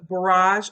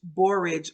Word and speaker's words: borage: free radicals cause aging you have the barrage oil our borage borage oil is how it's pronounced um it's an antioxidant